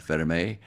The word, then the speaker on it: Vermeil: Well, the catalyst was admiration from my dad, Jean-Louis Vermeil, exactly pronounced Vermeil.